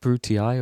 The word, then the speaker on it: Brutii: Is it Brutii or is it Bruti? I've always thought it's I, or EI, is the pronunciation of the family names, like Julii, Scipii, Brutii. But in the game they say Bruti, they don't say Scipii. Maybe it is EI.